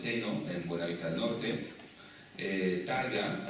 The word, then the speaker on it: Targa: Targa, antiguamente se pronunciaba Táraga, que es un caserío en Alajeró, y Tágara, que es un barranco en el municipio de Guía de Isora.